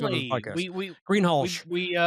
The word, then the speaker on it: Greenhalgh: we Greenhalgh. we pronounced that all correctly because you did it.